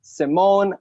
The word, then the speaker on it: Simon: captain simon pronounced my name simone i'm the captain and